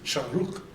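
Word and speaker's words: שׁוּרֶק: But when you see the vav with that one, you pronounce u, so it's the long u sound.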